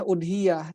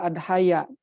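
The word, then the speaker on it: أضحية: Jadi istilah udhiyah itu dalam bahasa Arab lebih masyhur dibacanya udhiyah, tidak adhaya atau idhiyah, tidak, tapi udhiyah.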